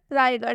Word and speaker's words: रायगढ़: जैसे कि यहाँ पर रायगढ़ है, ठीक है, रायगढ़ के अंत में आप देख सकते हैं कि आर एच आया है और जब भी अंत में आर एच आएगा तो ढ पढ़ेंगे।